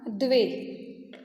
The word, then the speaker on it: द्वे: Student, pronunciation सिर्फ याद रखना, द्वे।